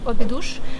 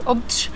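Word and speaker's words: Óbidos: фантастический город, который называется Обидуш. Вообще-то португальцы произносят его как-то вроде Обдж. Обдж. Но я не португалка, я не знаю, как правильно, поэтому я говорю Обидуш, как читаю, в общем-то.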